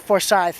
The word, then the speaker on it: Forsyth: are for scythe and i know to other people in other states that be pronounced differently but we call it forsythe down here that's just how we all say it and pronounce it i'm sure there's a